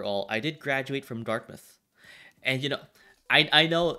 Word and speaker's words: Dartmouth: Even though, like, it's supposed to be pronounced Dartmouth, but this is mouth. I know, it's dumb. You don't say dark mouth, right?